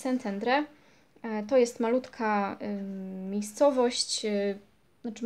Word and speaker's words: Szentendre: Pierwsza z nich to Szentendre, po węgiersku szy czyta się jak sy, więc Szentendre.